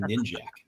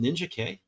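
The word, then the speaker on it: Ninjak: all these years I've been saying ninj is it Ninja K it is now yeah oh my God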